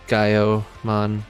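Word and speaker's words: Gaioumon: Probably just pronounced Gaiomon. The OU is usually O, which is very confusing when you're trying to figure out which one's Shakomon and which one's Shakomon.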